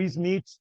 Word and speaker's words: Smith: Também o Smith, ou Smith, né, como se pronuncia em inglês, Smith, né, por causa do TH, 1967.